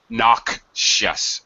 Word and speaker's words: noxious: closely related to noxious noxious by the way there's a k and then an sh sound an obnoxious person is